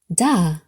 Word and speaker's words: Dal: Doll, pronounced da.